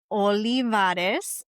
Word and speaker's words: Olivarez: I was the only youngest person in the room, the one whose name would get mispronounced right before she walked onto stage. By the way, it's Olivarez, Olivarez, which isn't my original last name.